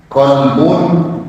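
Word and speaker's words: قلب: Ya, misalnya kolbun dengan kalbun beda, huruf satu huruf saja. Kolbun hati. Kalau kalbun anjing beda Pak.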